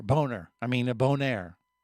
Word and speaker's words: Bonaire: around the island of Bonner. Boner boner I mean a bonaire. You know how they say it in the islands and how we say it in the states. Totally different.